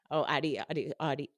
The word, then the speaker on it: Audi: You've experienced death before, and Audi, is it ODI or A?